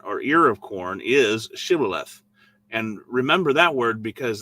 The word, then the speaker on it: Shibboleth: And if he said, nay, then they said unto him, say now Shibboleth. And he said, Sibboleth, for he could not frame to pronounce it right.